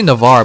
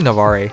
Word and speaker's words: Navarre: him out it's sad stop pronouncing the goddamn e I know it's supposed to be Navarre but I always see Navarre some reason Blair blade